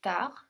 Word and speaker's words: tard: So here, every word apart from tu ends in a consonant. No, we have peut ending in x, visiter ending in a, plus ending in s, tard ending in d, but we don't hear any of them.